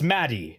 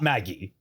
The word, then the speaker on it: Maddie: One, people highlighted a lot, it's Maddie, not Maggie.